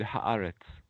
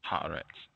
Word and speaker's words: Haaretz: Can you give us the correct pronunciation? That's pretty good. Haaretz. Haaretz.